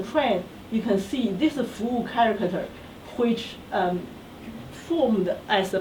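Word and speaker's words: 福: Now that's the pronunciation fu, and which literally this means fortune, means luck, or happiness, prosperity.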